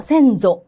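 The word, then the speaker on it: 先祖: 그다음에 선조는요. 음. 그렇죠? 센소. 이렇게 읽어 주셔야 되고.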